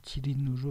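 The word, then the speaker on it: 吉林: 길림지역이라고 하였습니다 계림과 들림 우리는 발음으로 달리불이면 중국 발음으로는 지린으로 바르는 길림이라는 지명이 신라의 계림에서 유리했던 발음 가지고도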